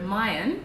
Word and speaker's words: Mayen: how do you decide on your brand so Mayan is a word from the thick language that's